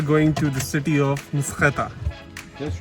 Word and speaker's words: Mtskheta: Now we are back in the car and we are going to the city of Mskheta. That's right. Yes. You pronounced it good.